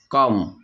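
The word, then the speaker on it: comb: করা ক্লাইম্ব আহরণ করা ডাম বোবা ডাম বোবা কম চিরুনি ক চিরুনি এরকম আরো কিছু ওয়ার্ড রয়েছে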